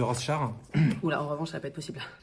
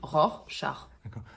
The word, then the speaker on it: Rorschach: un petit test de rush shard on dit Rorschach on dit ROR char c'est un peu compliqué à prononcer merci votre indulgence oui